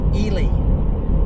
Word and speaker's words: Ely: It is Elely. And I guess I can kind of see that. So I try to try to make sure I call it actually how they pronounce it, which is Elie.